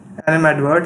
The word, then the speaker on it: animadvert: Animadvert, a verb, it means to comment unfavorably or critically. And its pronunciation is stressed on verse syllable, and here's a usage.